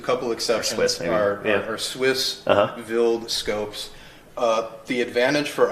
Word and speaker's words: Wild: speak mhm wild yeah so you pronounce it vild German yeah all the microscopes in here with with just a couple exceptions are are Swiss vild Scopes uh the advantage